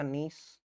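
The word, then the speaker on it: gneiss: चट्टानों में एक तो आ जाएगा नीस। है ना? इसकी स्पेलिंग ऐसे है भाई। लेकिन नाम इसका नीस प्रोनाउंस होता है।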